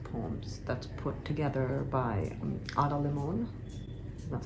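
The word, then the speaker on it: Limón: One is You're Here, Poetry of the Natural World, which is an anthology, a collection of poems that's put together by Limon.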